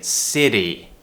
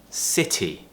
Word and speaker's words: city: thing here is that you don't pronounce it as a D which is what Americans do they would say city city city British English city city tip so make sure